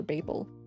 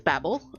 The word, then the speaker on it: Babel: I haven't heard of it, and I I actually don't know if it's Babel or Babel. It's Babel.